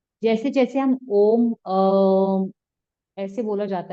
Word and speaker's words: ओम: ओम 3 शब्दों से मिलके बना है, अ, उ और म। ठीक है। अ का वाइब्रेशंस आपकी नेवल पॉइंट पे आएगा, नाभि पे आएगा। ठीक है। ऊ का उच्चारण आएगा आपके चेस्ट पे, यहाँ पे। म का उच्चारण आएगा आपके माथे पे।